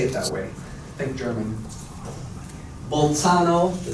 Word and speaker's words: Bolzano: This is how I'm taught to pronounce them, at least. Bolzano and Weierstrass.